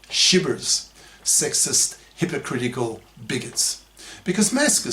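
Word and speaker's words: SHBRs: or sh beers that's s HB RS pronounced shers sexist hypocritical bigots because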